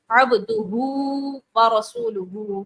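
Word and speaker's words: عبده ورسوله: بہت سی خواتین پڑھتی ہیں عبدہو و رسول, عبدہ و رسولہ, ٹھیک ہے جی. ان دونوں کو بھی کھینچنا ہے, اور واؤ مدہ ہے, اور ورسولہ میں واؤ مدہ کو بھی کھینچیں گے.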